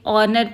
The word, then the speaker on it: ऑनर: अब there are to more examples N आर ह is silent. Right? So the sound comes as अ यहां पे ऑनर पे फॉर all such words we are going to यूज़ एन।